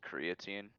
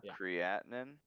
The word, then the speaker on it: creatinine: just pumping it out isn't it pronounced creatine no no is it that's a different thing yeah creatinine yes how do you spell it